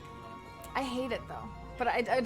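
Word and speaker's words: Knuts: And he says Canuts when he's talking about. That's actually Canuts.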